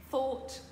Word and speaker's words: thought: Think, thought, thought. On retrouve le O-U-G-H-T qu'on prononce de la même manière.